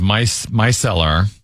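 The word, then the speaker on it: micellar: That's pronounced my myelar.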